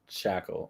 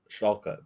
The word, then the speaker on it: Schalke: So I love that you call it Shackle. I'm not sure if that was like a mistake. I can never figure out how to pronounce it. So Schalke, but Dylan likes to